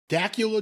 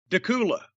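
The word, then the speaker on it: Dacula: from doug matthews in dakula georgia is that how you pronounce that dakula takula spelt like dracula without the r so i thought that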